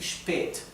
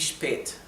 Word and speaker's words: spät: La A con la diéresis se pronuncia como un poco más larga.